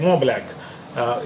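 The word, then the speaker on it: Montblanc: ये महंगी कंपनी है, मो ब्लैक इसको कहते हैं, MONT से लिखते हैं, टी साइलेंट है उसमें।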